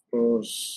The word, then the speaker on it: Plus: ওকে, das plus, তাহলে প্লাস কি বলা হচ্ছে? প্লুস। এটা উচ্চারণ Plus.